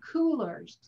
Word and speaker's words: Coolors: to a website called coolers and it's spelled weird c-o-o-l-o-r-s i actually already put that in the chat for you okay it looks like colors with an extra oh who wants to mess